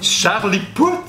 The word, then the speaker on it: Charlie Puth: Ces temps-ci, mon musicien préféré, c'est Charlie Puth. C'est comme ça qu'il faut le prononcer.